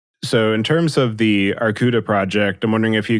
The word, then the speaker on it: Arkouda: Arkouda, which is the Greek word for bear, it's spelled Arkouda, is an open source framework for